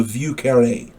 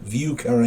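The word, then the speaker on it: Vieux Carré: it's also called the view county i believe that's how it's pronounced v i e u x c a r r e and the accent is on that last e view carne i believe it's called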